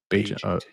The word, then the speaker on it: Bagent: Tyson Bagent.